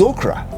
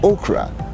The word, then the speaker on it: okra: It is okra. It is okra and not okra.